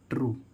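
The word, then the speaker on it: true: आर यू ई तो इसको हम क्या पढ़ेंगे ट्रू ट्रू मींस क्या होता है सत ट्रू मीस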